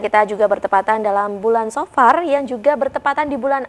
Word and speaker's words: Safar: Bacanya kita safar atau seperti apa sih Gus sebenarnya ini ya secara bahasa terlebih dahulu. Monggo Gus. Baik, bismillahirrahmanirrahim. Ya, yang benar adalah safar. Safar ya, berbeda dengan safar.